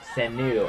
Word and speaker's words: Sanu: I'll have to look that name up, make sure I'm getting the pronunciation right. Mohamed Sanu, S-N-A-U, Sanu, Mohamed Sanu.